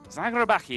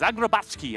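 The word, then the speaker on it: Zagrebački: Zagrabaki, I'm going to go with that. Let me know on Twitter how that pronounced. Zagrabachki, I'm being told.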